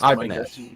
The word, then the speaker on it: Ibanez: Is it Ibanez or Ibanez, or how do you pronounce it, Chris? Ibanez.